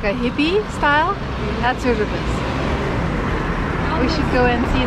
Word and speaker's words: Užupis: Užupis.